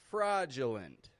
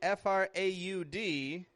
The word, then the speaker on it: fraudulent: Fraudulent. And notice that's spelled with an A-U, right? F-R-A-U-D-U-L-E-N-T. But that A-U isn't getting a frau. I'm not going fraudulent, but fraudulent.